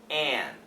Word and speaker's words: an: have the word an perfect pronunciation for a an is an an but usually we just say n n like engine like and outdated and